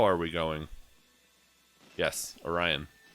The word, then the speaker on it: Orion: are we going yes orion or as a friend of mine in high school once called it oreon and i'll never i'll never pronounce it the the right way again um that's another one